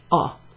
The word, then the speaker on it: ho: have a black pen oh so you don't pronounce the H I I own a